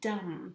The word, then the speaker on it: dumb: is an interesting word it is the word dumb and dumb actually means someone who cannot speak someone who cannot speak so